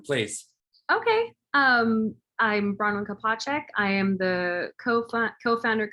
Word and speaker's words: Kopacek: episode i'm going to be um interviewing bronwyn kopachek is that correct am i pronouncing it right yes you are all right